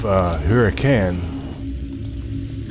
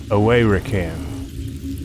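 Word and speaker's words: Huracan: That's the tomb of Hurricane. It's actually pronounced Away-Rakan.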